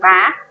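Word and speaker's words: 把: Ở đây, hai thanh điệu thứ ba sẽ chuyển thành hai, vì vậy nó được đọc là "bá".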